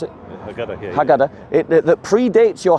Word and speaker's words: Haggadah: What did you pronounce it? Haggadah, yeah.